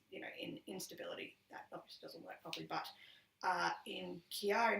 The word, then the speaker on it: Chiari: know in instability in Chiari malformation and I'm pronouncing it that way because that's like Jerry okay I don't think